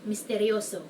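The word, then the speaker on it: misteryoso: mysterious next one is mysterioso meaning mysterious I don't know it sounds like it's easy enough to pronounce like just mysterious becomes mysterious with an O at the end like Spanish people could do it Mysterio for example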